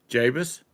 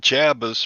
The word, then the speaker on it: Javis: uh hey Tom yes say the first name of that sp's guy over in the chat Javis well you finally said it right cuz cuz you've been called named jabas for about six months now well you know